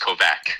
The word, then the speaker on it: Kovach: You pretend there's a CK there, so it's pronounced Kovac. Okay, Kovac.